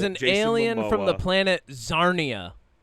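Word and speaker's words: Czarnia: He is an alien from the planet Zarnia. Rhymes with Narnia. Narnia. You say Narnia. Uh, Zarnia, spelled with a CZ, of course.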